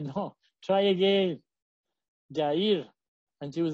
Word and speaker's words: Yahir: So I said, "Well, you're mispronouncing his name. Can say Yair," and she would say "Yahir," and said, "No, try again. Yair," and she would say Yahir.